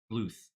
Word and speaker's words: Bluth: apologize because I think I've said Don bloom a good like 10 time it's Don BL Bluth yeah you have said